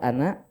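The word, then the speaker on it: أنا: Khusus lafaz ana pendek. Dimanapun nemu Bapak. Dibaca pendek Pak ya.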